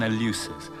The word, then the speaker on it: Eleusis: in the little village of ellipsis or in the old pronounciation Eleusis near Athens and there